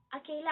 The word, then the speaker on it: a: एंड जब ए अकेला आता है तो मोस्टली हम इसे अ प्रोनाउंस करते हैं।